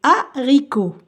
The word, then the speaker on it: haricot: ça se prononce a parce que la lettre H est muette comme par exemple les haricots haricot les alors je vais